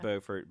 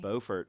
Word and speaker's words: Beaufort: Not Beaufort, North Carolina. Not Beaufort, but Beaufort. Both named for the Duke of Beaufort, but South Carolina with doesn't know how to pronounce things.